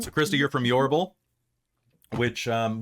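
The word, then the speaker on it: Iorbral: so Christal you're from yal which um when you look through the book later in the world section is not spelled like it sounds it's i o r b r a l yeah your I keep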